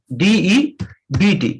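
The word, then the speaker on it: debt: वह है हमारा डेट इसको हम लोग डेट बोलते हैं डेट यह कर्जा होता है उधर साइलेंट होता है इसमें बी होता है वो साइलेंट होता है इसलिए डेट नहीं बोला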